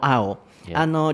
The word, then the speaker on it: aisle: So, aisle、旅行とか行った時